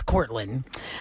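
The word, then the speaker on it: Kortlyn: almost daily medical cream is it Courtney or is it Caitlyn no it's courin um another person says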